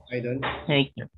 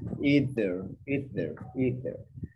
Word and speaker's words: either: We have a TH pronunciation that's either. Sometimes you will hear some people say either. But that's a little bit British when they say either or neither. So we have the two pronunciations are correct.